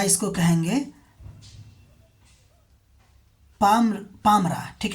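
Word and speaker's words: Palmyra: अगला इम्पोर्टेंट जो जगह चर्चा में थी वो था आपको पमियरा, या इसको कहेंगे पामरा, ठीक है। क्या कहेंगे इसको, एल यहाँ पे साइलेंट हो जाएगा, पामरा हो जाएगा, ठीक है।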